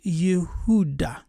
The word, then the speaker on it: Yehuda: root of yehudit is Yehuda which means celebrated or praised written with a consonant y h u d the H at the end can be silent yes so the letter